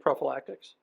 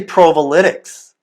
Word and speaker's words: Provolytics: Like prophylactics? Well, it's actually provolytics.